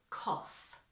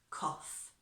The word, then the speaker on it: cough: All right, so that pronunciation is quite often tricky because it's so different from the spelling. So cough. After me, cough.